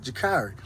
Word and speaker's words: Jakari: to pronounce it right I don't know where I was getting jakiri from but Jakari but yeah Ellen hey